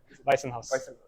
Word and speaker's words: Weissenhaus: Am I pronouncing it correctly? Weissenhaus.